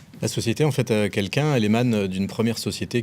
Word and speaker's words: Kelkun: Le grand entretien avec Grégory Valenci qui est patron et fondateur de quelqu'un.